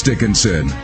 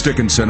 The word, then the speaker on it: Dickinson: supermodel janice dickinson what am i it rhymes with rich you can call me